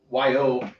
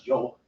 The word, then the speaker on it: yo: Well, like in Spanish, Y-O, they pronounce Joe, like when I first started taking that course, it sounded like saying Joe, and I'm like, right. What? Well, it depends. South America is Joe. Central America is Yo. Yo, okay. Yeah, and I think Spain is Joe again. It's right. more of a J sound.